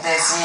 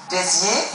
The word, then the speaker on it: Béziers: The one you told Simona about France in Béziers.